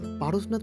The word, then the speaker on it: Parasnath: আর আমি তো অনেকক্ষণ ধরেই পারসনাথ পারসনাথ বলে যাচ্ছি কিন্তু জানেন হিন্দিতে একে পারসনাথ বলে আর বাংলায় এটির উচ্চারণ হয়ে যায় পরেসনাথ উঠছি পারসনাথ পাহাড়ে